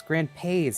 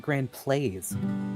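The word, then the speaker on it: Grandpays: God I just realized it's Grand pays not Grand plays oh my god I've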